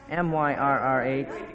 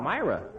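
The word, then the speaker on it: myrrh: mistake a little one how do you pronounce m y r RH m y r r h Myra that's what you say in the pageant too that's wrong huh uh-huh it's myrr like gold frankincense and myrr got it is that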